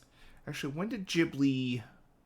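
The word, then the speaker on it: Ghibli: H actually when did jibli it's a jibli AMV by the way when did Studio jibli begin Chi or gibli as some people like to pronounce it June 15th well [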